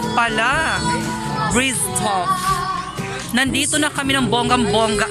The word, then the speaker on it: Bryztoff: Ano ba ka-pronounce nito? Bryztoff pala. Bryztoff.